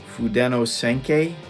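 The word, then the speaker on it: Fudenosuke: So to start off, I'm using a Tombow pen here, the blue Fudeno Senkei. That's how you pronounce it.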